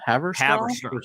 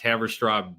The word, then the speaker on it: Haverstraw: So- Steve's keeping minutes, so So the new EP, how do you pronounce it? Haverstraw? Haverstraw. Straw. Haverstraw? Haverstraw.